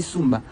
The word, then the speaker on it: Samba: Samba par déformation, il dit Sumba. Sumba là c'est Samba en fait.